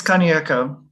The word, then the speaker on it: Kaneko: Did I pronounce it correctly? It's Kaneko. Yeah, that's pretty close.